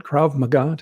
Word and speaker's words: Krav Maga: over the years can you can I get pronunciation right KRA magah you got it right so for those that don't know Krav Maga is a self-defense uh martial arts that is